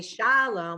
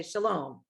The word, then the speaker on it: shalom: Most of the time in Hebrew, the second syllable has the accent. Like we don't say shalom, we say shalom.